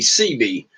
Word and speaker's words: Seabee: he was a Navy Seabee. And for you folks out there that do not know, CB is a construction battalion, is what CB stands for. And then, of course, it's pronounced SEABEE.